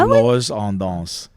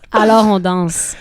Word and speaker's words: Alors on danse: I said it right, no? Just not as French. Sorry, I don't say it like Daniel Galarno. Alors on danse.